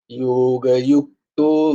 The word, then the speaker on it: যোগযুক্ত: আচ্ছা, এই যে যেখানে যেখানে এই জ দেখতো না, এখানে কোথাও জয়ের উচ্চারণ হয় না, উচ্চারণটা হচ্ছে ইউ হয়, ইউ। সংস্কৃতে উচ্চারণটা হয় ইউ। তো জ বলো না, বর্গীর জয়ের ক্ষেত্রে জয়ের উচ্চারণ হয়। এই উচ্চারণ যেখানেই জ দেখতে পাবে সেখানে কিন্তু জয়ের উচ্চারণ করো না, ইয়োর উচ্চারণ করো।